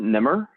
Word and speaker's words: Nemr: name we pronounce it Nimr but there was there was a time in my life when I actually didn't know how to pronounce it it's a phonetic spelling of an Arabic word oh I would you